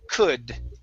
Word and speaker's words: could: Okay, the L is silent in the word could. So instead of could, it's could. Could. Could. Just like that.